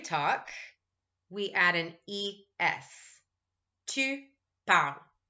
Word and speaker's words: parles: Tu parles. As usual, we don't pronounce the S.